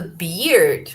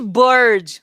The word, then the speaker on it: beard: They also have the beard. The beard. Okay, guys, take care about the pronunciation. It's not a bird. Okay, bird, beard, bear, and beer.